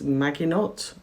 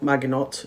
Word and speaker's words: Maginot: is where Reverend and I don't know exactly how to pronounce this but I think it's Maginot m a g i